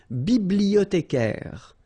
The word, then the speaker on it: bibliothécaire: Then un bibliothécaire, bibliothé, remember in French the H doesn't exist, so you don't pronounce it.